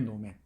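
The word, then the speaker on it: 能: 노 가면이지, 노맨이라고 해, 노맨. 일본의 그 인형, 그 가면극이죠. 가면극인 이 노라고 하는 게 있고, 이 한자, 이 한 글자로 써요. 노라고, 이 능자 있지? 이 능자를 하면은, 이 능자가 노라고 읽혀요. 노.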